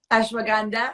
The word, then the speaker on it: ashwagandha: here i think i have how do you pronounce ashwagandha ashwagandha that's right i'm czech as you know i'm